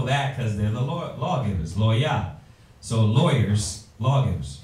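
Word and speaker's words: לוי: How do you say Levi in Hebrew? Loya. Loya, which means what?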